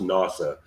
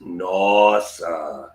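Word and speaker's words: nós: sound because it's not it's never pronounced nasa it's always pronounced nos and and the thing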